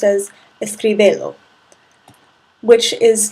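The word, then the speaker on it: escríbelo: what we do is we add an accent to the originally stressed vowel to maintain the pronunciation of the verb without the attached object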